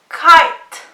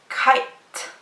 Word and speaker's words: kite: Kite. Yes, it was the letter T. So the E here is silent and the I is long.